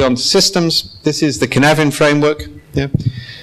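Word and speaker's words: Cynefin: This is the Canevin framework. Yeah. It's pronounced Canevin. It is a Welsh word.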